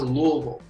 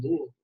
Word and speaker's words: Louisville: See, to a native, it's always Louisville, right?